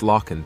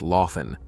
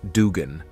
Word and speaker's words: Loughan: The video, titled "Where is Max Loughan?", featured one of the hosts incorrectly pronouncing Loughan's last name as Dugan.